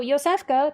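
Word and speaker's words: Iosefka: name oh funny um so yfa traditionally spelled with a J but with the same sound is a Polish name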